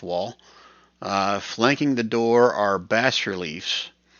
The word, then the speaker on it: bas-relief: Flanking the door are bas-reliefs. I think that's how you say it. Bas-relief, B-A-S, bas-reliefs of two male frost giants that have been defaced.